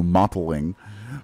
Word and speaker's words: mottling: there's kind of mottling I hate that word cuz always sounds like I'm gonna say modeling so I over pronounce my T's and go mottling but mm-hmm there's modeling